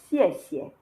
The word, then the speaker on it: 谢谢: It is xie xie, 现在, 谢谢, 现在. And here is Y. Y is pronounced yi, yi.